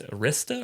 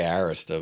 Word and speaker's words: Arista: I just had to take a quick look at uh what' you say it's Arista or Rea? I say Arista, but what do I know?